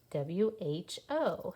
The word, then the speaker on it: who: tricky at the beginning it starts like our question words wh but we don't say it like wh who w h o who is that do you